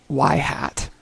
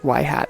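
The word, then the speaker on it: ŷ: It is pronounced yhat. Yes, yhat.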